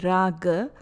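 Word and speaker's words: rāga: Thus, one develops raga for the same.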